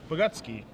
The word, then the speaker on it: Bogucki: So we're going to see if Woodrow, Bogucki is how it's pronounced, is going to be giving, what kind of beatdowns is he going to be giving this turn?